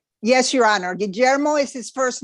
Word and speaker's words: Guillermo: gee the eyes pronounced when it has the u is pronounced like a hard g without it it's like a soft g or j sound so all right very